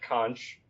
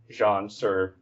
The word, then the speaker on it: Xonsh: So, I often will say "conch", but sometimes I'll say "zhonch". The The weirdest one I ever heard was "zhianch", which I don't even know how they got that, but